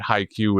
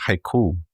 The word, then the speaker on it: haiku: This is why we just accepted that HiQ is the way we do this now. Oh. Oh, I figured out I learned yesterday that it's pronounced haiku.